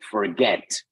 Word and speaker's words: forget: word another word like forget in that and that word forget the stress is on the second syllable therefore you double the